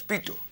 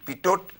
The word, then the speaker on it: Pitot: The T is not pronounced, so it is pronounced as Pitot, P-I-T-O-T, Pitot, but it is pronounced as Pitot.